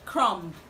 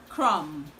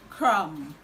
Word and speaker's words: crumb: word is commonly pronounced crumb but the right to pronounce this word is crumb crumb crumb i'm sure you already know which letter is silent the b in this word is silent now let's go to